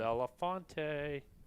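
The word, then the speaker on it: Bellefonte: Bellafonte like Harry Belfont.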